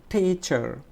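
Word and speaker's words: teacher: এখন দেখো এখানে হচ্ছে টিচার, তাহলে টি শব্দটা হচ্ছে ট্রেস সিলেবল, তাহলে এই টিটা আমরা একটু জোরে উচ্চারণ করবো, টিচার, টিচার, টিচার।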